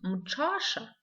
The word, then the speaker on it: мчаша: Мчаша, воскресенье. Новый звук здесь звук Ч. Т, Ш. Мчаша, мчаша. Звук Ч пишется как Т, Ш.